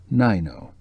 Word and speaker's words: Nyo: of course I'm always I'd like to tell you about noo she pronounced the name Nyo who's Nyo said kerin camouflaging a mild